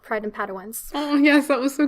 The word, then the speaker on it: Padawans: By the way, I think we need to start a trivia team called Pride and Padawans. Oh, yes, that was so cute. Done, yes. Did I pronounce that correctly?